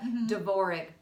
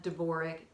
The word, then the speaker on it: Dvorak: us RDA and a like Dana but it's pronounced de bourree DV o are a que yes de Bourgh spelled DV o are a